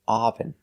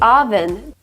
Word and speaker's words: oven: this is not correct we cannot say aen I can't turn on the oven we use the short sound like cup and up we say uh uh relax sound a oven oven oven